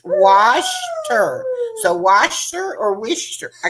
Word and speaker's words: Worcester: But Okay, Norma says it's pronounced Washter. So Washter or Wishter? I guess I would say Washter because I put the R, but he says Worcester.